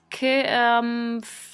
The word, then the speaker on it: comfortable: classic mispronounced word comfortable when you actually look at how it sounds it's comtable comfortable telephone and this is